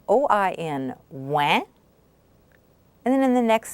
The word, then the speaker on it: oui: OUI, the OU is pronounced W, and then you have the E. We. We.